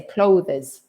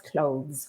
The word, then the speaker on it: clothes: And clothes finishes with a z sound, the voice sound. But it's a tricky word. Mm-hmm. Yes, it is. And it's just one syllable. One syllable. That's it. Because many Spanish people try to say clothes. But no, it's clothes, one syllable.